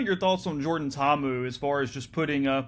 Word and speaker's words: Ta'amu: So I think Tamu's in a great spot. Ta'amu, excuse me.